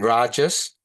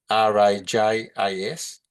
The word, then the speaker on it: rajas: The the a is pronounced as a sat not sat and rajas r a j a s rajas and Thomas t a m a s